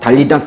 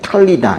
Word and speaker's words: 탈리다: 그럼에도 불구하고 그 아이의 손을 잡고 달리다 쿰. 이게 달리다 보면 원래 이제 탈리다인데요. 탈리다. 이건 이제 소녀야 이렇게 부르는 거고 쿰.